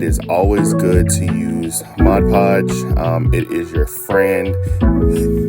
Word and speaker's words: Mod Podge: a little bit of mod podge um it is not Modge Podge it is Mod Podge I get corrected on that all the time cuz I used to say it wrong but we are going